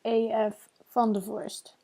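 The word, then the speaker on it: A.F. Vandevorst: It's pronounced AF Vandervorst.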